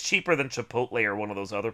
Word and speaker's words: Chipotle: It's Chipotle, but it's just fun.